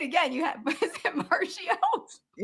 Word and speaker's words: Marchio: You have Is it Mario?